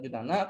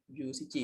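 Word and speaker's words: 十七: Ya kadang-kadang bakal pendengar Junana, kadang-kadang bakal pendengar Jusichi ya. Karena buat alasan penggunaannya yang Shichi sama Nana itu di cara pengucapannya lebih mudah yang mana gitu. Gitu. Ya, bisa Jusichi, bisa Junana.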